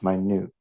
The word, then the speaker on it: minute: a ethan zone but this word can also be an adjective and in this case minute just pronounce my new extremely small minute particles